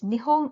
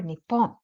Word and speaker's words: 日本: asked chat GPT if Japan in Japanese is nihong or Nippon and here is the answer both the horn